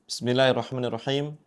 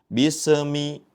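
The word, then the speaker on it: بِسْمِ اللَّهِ الرَّحْمَٰنِ الرَّحِيمِ: Pada yang pertama yang perlu kita perhatikan yaitu huruf sin yang bertanda sukun yang mana sin ketika bertanda sukun mempunyai sifat rakhawah yaitu dengan mengalirnya. Jangan sampai kita membacanya dengan terputus. Contohnya seperti ini, bismi ataupun dengan dipantulkan bisemi seperti itu. Namun yang betul dengan cara dialirkan. Bismillahirrahmanirrahim.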